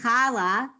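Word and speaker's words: challah: eat on shabbat ray khala the hay on the end is silent right and when we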